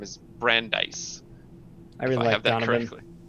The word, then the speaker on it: Brandeis: building his name is Brandeis I really have been really I always pronounced it Brandis in my head but you know